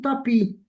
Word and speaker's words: tapis: Alors, je vois S mais je ne prononce pas la lettre S. On dit pas tapis, on dit tapis.